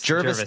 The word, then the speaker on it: Jervis: Jervis, sorry. Yeah, Jervis Tech. I spelt it phonetically.